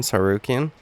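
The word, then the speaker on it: Tsarukyan: trash talk for Armin sarukin was him saying that he has a silent T at the beginning of his name well guess what Michael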